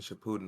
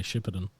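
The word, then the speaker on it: Shippuden: like i just yeah it's weird how you say it though we say shipperton uh if we say it both ways i guess potato tomato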